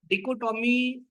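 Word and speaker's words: dichotomy: may create डि कोटोमी डि कोटोमी इसको शद ऐसे pronounce करते हैं टोमी डि कोटोमी इसका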